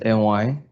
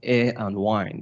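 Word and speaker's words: Aymy: can know my name my name is NY a-y-m-y pronounced a and wine the air we breathe in and the wine we drink okay I'm a Nigerian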